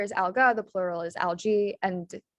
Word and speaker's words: algae: So yeah, the singular is alga, the plural is algae, and it's pronounced with the E sound. So the AE is pronounced with that E sound.